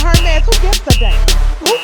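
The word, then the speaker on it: Hermès: They was like, Tasha, it's not Hermes. It's not Hermes. I was like, what is it? They said Hermes.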